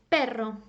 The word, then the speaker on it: perro: so as I said if you pronounce it strongly it will go as in for example perro a dog perro now you can also